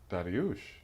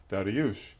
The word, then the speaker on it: Darius: said it's it's daras he said oh darush and I said oh is that how you pronounce it he says yes it's Persian it's Iranian darush and so um so gave me the correct pronunciation of the name from the land from which it came but my father for